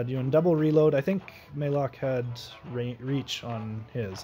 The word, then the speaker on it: Malok: his name it's it i think it should be pronounced maylock so anyway thanks guys